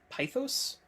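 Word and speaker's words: pithos: uh Greek style uh I think you pronounce it pythos like a jar um it appears to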